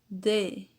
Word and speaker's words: they: O último aí, they. Lembrando, olha, que aparece o TH e para pronunciar correto tem que colocar a língua entre os dentes, ok?